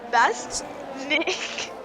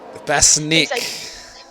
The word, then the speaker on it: Basink: How do you pronounce Basink? you go Bass Nick. Basnik.